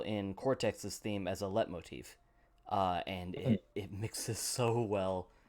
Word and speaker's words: leitmotif: Like, I'm an absolute sucker for Liet motifs. And one of the levels in... That's pronounced leitmotif. Is it leitmotif or Liet motif? I never knew.